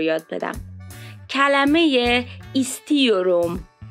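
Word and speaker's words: istiyorum: یه چیزی رو یاد بدم کلمه کلمه کلمه ایستیوروم ایستیوروم تلفظش ببینید ایستیوروم یعنی چی یعنی دلم میخواد دوست دارم یا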